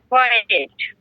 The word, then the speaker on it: quiet: দেখেন, কিউ ইউ আই ই, না এই যে উচ্চারণটা দেখেন, খ করে খ অন্তস্থাকার, খোয়া অন্তস্থা এ ট, এট, কোয়েট বলেন। Quiet. হ্যাঁ এই যে ঠিক আছে, coed coed coed coed coed. Coed মানে কি? Quiet.